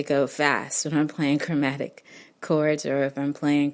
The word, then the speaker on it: chromatic: maybe Google that word chromatic, and I'll spell it for you because some of my students need to know that there is an H in chromatic, and it's CHROMATIC.